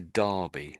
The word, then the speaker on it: Derby: Although it's an e, we sort of pronounce it as if it was an a in my mind anyway. So, we sort of say derby. That's pronounced as derby.